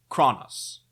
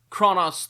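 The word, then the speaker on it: Chronos: As you can tell from how much trouble I have pronouncing that letter, I'm just going to also pronounce this one Kronos. Kronos, the root for English words like chronology, chronic, synchronize.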